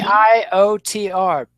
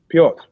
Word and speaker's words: Piotr: how you pronouncing Peter? Peter How's he spelling it? with a P? P-E? Piotr. You Peter. mean Piotr? Say it. Piotr.